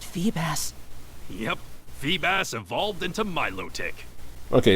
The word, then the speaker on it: Milotic: mass Wow that Phoebus yep Phoebus evolved into Milotic okay it's Milotic I can I never knew how was supposed to be pronounced but if that's the official pronunciation then